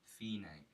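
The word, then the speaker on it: fine: these Lords DC al fina you might say like DC alpha but fina is the Italian pronunciation of finish what this means DC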